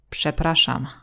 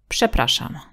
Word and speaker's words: przepraszam: But also rz will have the same sound if it's next to a voiceless consonant or at the end of the word. Przepraszam. Excuse me, who is this? Would be przepraszam, kto to jest?